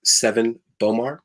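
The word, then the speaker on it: Sevan Bomar: that i want to talk about one is seven bomar his name is spelled s-e-v-a-n-b-o-m-a-r and he wrote a book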